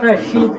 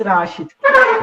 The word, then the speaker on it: Rashid: yes sir it's me it's not rasheed it's rashid rashid okay so what um what change r double a is it just here okay okay you pronounce it as rashid all right okay not rasheed fine right see the